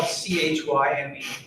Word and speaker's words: chyme: or c h y usually you pronounce it as like a hard k sound but whatever and i